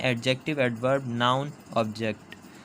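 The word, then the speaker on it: adjective: एडजेक्टिव बोलते हैं इसको। डी जो होता है वो साइलेंट होता है।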